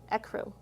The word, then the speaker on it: ecru: word i had to look this one up e crew ecru ecru ecru i forgot see we don't even know all the pronunciations here hazel khaki khaki is if you're